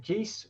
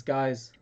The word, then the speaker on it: Gies: Gies. Guys, it's guys. Guys. So it's pronounced guys.